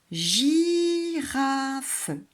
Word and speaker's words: girafe: Girafe. Voilà, là, ça tombe bien parce que c'est J, le gulu et le I, puisque il gicle. Girafe. Et il y a un E muet à la fin.